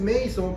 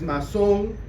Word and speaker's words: Masson: No es Mason, por si acaso, es Masson, porque es un apellido francés.